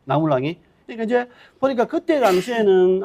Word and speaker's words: 나물왕: 박재상이 이제 신라에 56명의 왕이 있는데 17대 나물왕. 그러니까 우리 흔히 이제 예전에 내물왕이라 했는데 그 내자를 이제 그 한학자이나든지 어문학자들이 이제 내자를 나자로 불러야 된다.